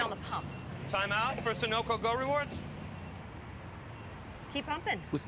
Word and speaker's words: Sunoco: Timeout for Sunoco Go Rewards.